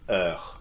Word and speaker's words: heure: And that word is heure. Let's repeat that. Heure. It's a feminine word starting with a silent H.